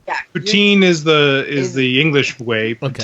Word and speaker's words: poutine: Now, I'm still calling it poutine. Am I still saying it right or wrong? Yeah. Poutine is the English way. Okay. Poutine is the French way, and apparently the correct way.